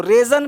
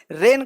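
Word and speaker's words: reign: अब देखते हैं इसको रेजन पढ़ें कि रेन पढ़ें। रेन का मतलब शासन, रेजन नहीं, रेन। ये जी नहीं पढ़ना है, रेन पढ़ना है।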